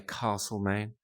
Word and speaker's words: Castlemaine: Although, coming from South Australia, I like to say Castlemaine because that's the correct way to say it.